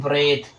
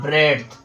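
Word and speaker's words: breadth: तो इसमें आपका जो सही है वो आपका सही है फ्रेंड्स ब्रेथ। ठीक है? और जो गलत है वो आपका है ब्रेड्थ। ठीक है? तो सही प्रोनाउंसिएशन करना है क्योंकि यहां पर ना डी क्या हो रहा है? डी आपका हो जा रहा है साइलेंट लेटर।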